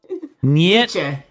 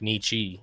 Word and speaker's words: Nietzsche: Nietzsche. I thought it was like Nietzsche.